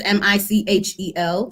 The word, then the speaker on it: Michel: Last name is Michel. Some people, think it's the LLE. No, it's Michel. It's actually Michelle, pronounced Michelle.